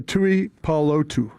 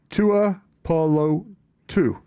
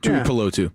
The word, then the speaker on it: Tuipulotu: I like Chief coming in clutch with back-to-back days of Islander pronunciations. Yeah. Thank you. I mess those things up. Tuipulotu. Almost. Tuipulotu. Right? Yeah. You nailed it. Tuipulotu.